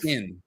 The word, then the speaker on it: palanquin: palanquin, not a Pelican, chin. pelican. It looks like Quinn, but it's a palanquin, I think is how you say it.